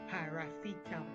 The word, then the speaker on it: paracetamol: Which syllable attracted the most emphasis? I mean, which syllable was heard clearer, longer, and louder? Yes, Bacha. You got it right. That is C in the word paracetamol. You got it right.